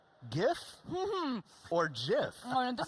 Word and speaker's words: GIF: This is GIF. If you look at the G, it's a hard G. There's only one G I've ever found in English that's a J, and that's giraffe.